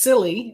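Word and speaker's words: SIYLI: I think it's called Search Inside Yourself Leadership Institute, which is pronounced silly as an acronym because that they didn't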